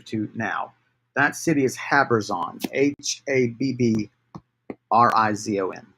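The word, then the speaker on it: Habbrizon: give a name to now that city is habers on h-a-b-b -r-i-z-o-n havers on I should just spell it for you on the chat and um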